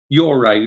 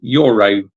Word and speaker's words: Yoro: Yoro, that's it. Thank you. I said this name right earlier, but I said it wrong that time. So thank you for correcting me on that. Yoro.